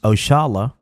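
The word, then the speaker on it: Oxalá: Oxala, pronounced Oshala, a commonly used term, is a direct descendant of a term we Muslims commonly use, Insha'Allah, means God willing.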